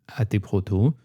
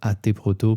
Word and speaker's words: AT Proto: un protocole qui s'appelle AT proto. J'ai tendance à dire AT proto parce que ça s'écrit AT en majuscule. Ouais, moi aussi. Mais c'est vrai que ça serait plus hâte proto je pense.